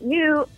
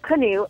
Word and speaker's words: Knute: coach Knute Rockne and new actually or canoe I'm sorry that's the way that I learned that it was now pronounce but he actually used